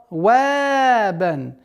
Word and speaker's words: صوابا: Твердое произношение сад. Твердый звук. Са. Вабан. Мягкое произношение вау, оно мягкий звук, в размере двух огласовок, и при остановке аннулируется танвин, и причинная долгота в размере двух огласовок.